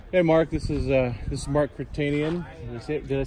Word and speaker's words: Kertenian: This is Mark Kertenian.